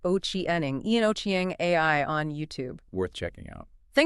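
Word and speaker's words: Ochieng: It's called Ian Oiang AI. That's I A N then O C H I E N G, right? Pronounced Oiening.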